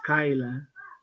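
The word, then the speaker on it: Scylla: Skila is the first one. Am I right? Yes, you're right. Skyla DB. I don't know why. Um, I don't know why. Google is pronounced as Skyla.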